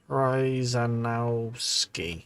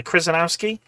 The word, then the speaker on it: Krzyzanowski: 11th core problem, you'll have to learn how to pronounce Krzyzanowski. Krzyzanowski. Yeah, Krzyzanowski.